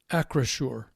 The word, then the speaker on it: Acrisure: Do you know how to pronounce the new name? Acrisure.